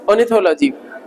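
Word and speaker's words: ornithology: ऑर्निथोलॉजी, वैसे रा उड़ा रहता है लेकिन बोलने में ऑर्निथोलॉजी, रा साइलेंट रहता है, ठीक है ना।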